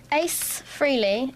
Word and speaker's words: Ace Frehley: Ace Frehley, is how you say his name?